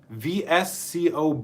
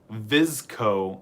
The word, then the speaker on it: VSCO: Alex our moderator said vsco boy is a fashion trend and it's pronounced visco not v SC visco visco okay